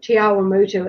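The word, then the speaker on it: Te Awamutu: a Kiwi but so I always say it's t like a cup of tea ah why move like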